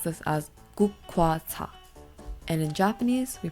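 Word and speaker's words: 국화차: In Korean, we pronounce this as gukwa cha.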